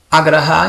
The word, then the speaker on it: agraha: Agraha invece, quando è corto, significa rifiutare.